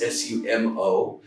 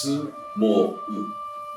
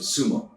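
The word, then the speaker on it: 相撲: So in English it's S-U-M-O, but in Japanese it's actually 3 syllables. It's su-mo-u, and put together it's sumo. So the last part gets elongated, so it's sumo as opposed to sumo.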